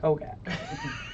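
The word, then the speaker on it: Hogaak: I think it's pronounced Hogak.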